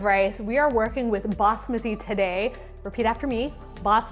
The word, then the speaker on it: basmati: so speaking of rice we are working with bosmothy today repeat after me boss with e not basmati although if you do pronounce it that way that's okay but you